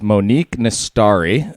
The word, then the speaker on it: Monique Nastari: guest today yes we do and it is Monique miss story and let me know if I'm pronouncing that correctly yes that is correct very